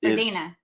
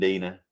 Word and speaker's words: Deanna: Jack and Deanna like it's Dina. Oh, Jack and Dina.